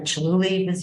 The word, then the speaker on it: Chihuly: She actually worked at the Chihuly Museum, did I say it right?